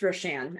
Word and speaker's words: Roshan: So am I saying it right with Roshan? It's Roshan, actually way easier than it looks.